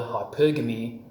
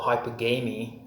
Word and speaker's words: hypergamy: It's pronounced either hypergamy or hypergamy, whichever way you want to say it.